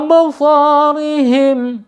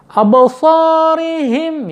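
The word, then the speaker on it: أَبْصَارِهِمْ: Absarihim ya, roknya dibaca tarqiq ya karena berharokat kasrah.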